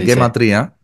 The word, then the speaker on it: gematría: perdón gematría se dice gematria porque digo porque la palabra es hebrea y se pronuncia en hebreo así eh Ah claro Okay